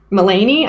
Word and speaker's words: Mulaney: for it Maloney boulogne Mulaney I don't know how to pronounce Loney like rind with Bologna that's why that's what